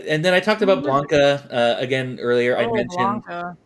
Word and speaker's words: Blanca: I said Blanca as a kid, but I think it's Blanca. You did? I think. Yeah, I know it's Blanca. Sorry. I did say Blanca cuz look how it's spelled. Blank.